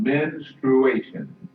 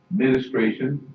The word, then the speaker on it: menstruation: It is based on menstruation. Menstruation. Many times it is pronounced ministration. That is not correct.